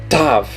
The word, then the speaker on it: Tav: Tav. Ela vai ter o som mais de TH.